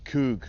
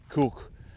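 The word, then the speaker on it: Koog: Um this particular piece of land is called uh Coug or Cook. Cook Cook. Uh in English you pronounce that as Coug, but Cook, what that means is that this is reclaimed land.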